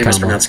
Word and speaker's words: Kamala: Name is pronounced Kamala.